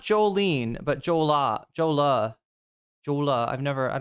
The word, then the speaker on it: Jolah: Is it Joolah with an uh or an ah? Jolola. No, it's ah. It's got to be ah, right.